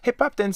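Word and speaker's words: 힙합 댄스: we use it and we transform it into Korean pronunciation and we use it like that yeah hip hop Dan hip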